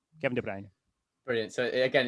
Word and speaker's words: Kevin De Bruyne: So um the Flemish version is the one that I that you'll hear me use which is Debr. Kevin de Brne. Kevin de Brne.